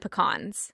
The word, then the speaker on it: pecan: you a pean or respect all peans and pecans okay I respect them all they are well